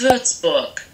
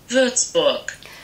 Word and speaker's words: Würzburg: I feel like the Berg, like in English we would say Berg, but in German you say it more like book.